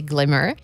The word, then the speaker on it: GLMR: jetons de mom beim glmr prononcé glimmer sont actuellement steakés et